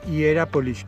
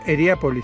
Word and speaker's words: Hierapolis: Well, we're leaving Hierapolis, not Heriapolis, because I think I've been saying it wrong all along and it's Hierapolis, not Heriapolis.